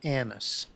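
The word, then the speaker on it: Annis: There's no U in that. There's just two N's and an I. Anise.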